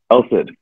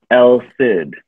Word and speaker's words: Elcid: blah and move on it was always ah elsa el sid and then i'd have to